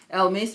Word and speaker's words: Elemis: And then you've got Elemis, or should it, depending on how you want to pronounce it, Elmis, but I think it's Elemis.